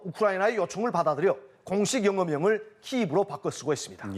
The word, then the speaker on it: 키이브: 정부는 우크라이나어를 공용어로 정하면서 지역명의 영어식 표기를 우크라이나어 발음에 따르도록 의무화했습니다. 이에 따라 1995년부터 우크라이나는 모든 공문서와 외교문서에서 자국의 수도를 영어로 키이브로 표기하고 있으며 최근에는 유엔과 유럽연합, 주요 국제기구에서도 키이브를 사용하고 있습니다.